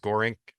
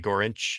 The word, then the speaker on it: Gorinch: It's Joe Gorinch, and a lot of times you'll hear it pronounced Gorink, but it's really Gorinch. He's of Slavic descent. Typically, they pronounce the C as a CH sound.